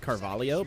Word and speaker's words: Carvalho: and it was great her name is pronounced carvalho but i'm going to keep saying carvalho oh is this the